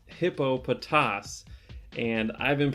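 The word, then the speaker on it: Hippopotas: so anyways uh about the pronunciation it is pronounced hippo potass and i've been pronouncing it hippopotamus this whole time and i'm going to link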